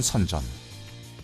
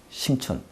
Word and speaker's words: 선전: 전 세계 창업자들이 모여들면서 빠르게 혁신의 기지로 탈바꿈하는 선전. 이제 진짜 중국의 실리콘밸리는 여기다. 심천, 선전입니다. 중국 발음으로 그렇게 얘기를 해요.